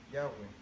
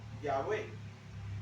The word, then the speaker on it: Yahweh: O sea, las letras hebreas Yud, Kei, Vav, Kei, que posiblemente se pronunciaban Yahweh.